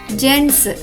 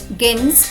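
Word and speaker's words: gents: ఈ పదం యొక్క ఉచ్చారణ అవుతుంది జెంట్స్. గెన్స్ కాదు, జెంట్స్.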